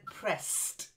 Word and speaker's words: pressed: And then pressed. Silent E. Pressed.